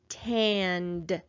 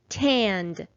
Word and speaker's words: tanned: sound so this time suffix ed is going to say and this is the word tand how many syllables are in this word let's clap it out tanned there is just one